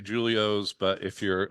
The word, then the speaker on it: Julio's: but here's my question everybody mispronounces Julios it's a hard J because it's Italian named after your grandfather